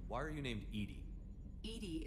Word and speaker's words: EDI: are you named edie edie is the phonetic pronunciation of edi that is an acronym for enhanced defense intelligence okay fair enough uh